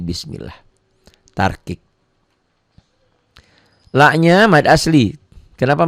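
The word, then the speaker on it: بِسْمِ اللَّهِ: Ini dibacanya nggak bunyi A, nggak bunyi O. Jangan bismillah tapi bismillah.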